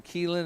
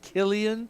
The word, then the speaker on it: Killian: I said it wrong for 3 weeks. I've been calling him Keelan. His name is Killian.